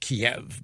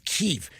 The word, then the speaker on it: Kyiv: See, us plebes pronounce it Kiev, but they call it Kyiv because they're insiders. It's Kyiv.